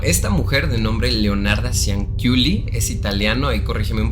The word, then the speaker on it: Cianciulli: ¿Es Ciuli o Culi? Culi. Entonces estás bien, Culi. Cianciulli.